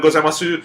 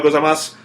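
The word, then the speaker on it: ございます: kids I could tell kept putting the U on gozaimasu, because it's spelled gozaimasu, but in most dialects of Japanese, you leave the u off, or you just sort of... Yeah, you just sort of kind of almost imply it.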